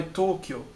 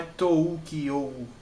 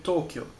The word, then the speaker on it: Tokyo: Você não vai pronunciar o U, é O. Você vai prolongar o som do O. Então é Tokyo, não é Toukyo. Entendeu? É Tokyo.